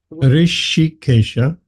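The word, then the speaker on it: Hṛṣīkeśa: Rishikesha. Rishi. It's a silent H.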